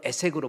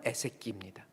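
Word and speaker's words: עֵשֶׂק: 근데 우리 말로 에색으로 번역되는데 히브리어의 정확한 발음은 에세키입니다.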